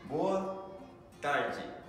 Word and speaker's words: boa tarde: ましょう。2 つ目、ボアダイジ、こんにちは。